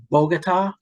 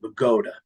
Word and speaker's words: Bogota: of the tri-state area it looks like Bogota just like Colombia but no in Bergen County we pronounce it Bogota so anyway so he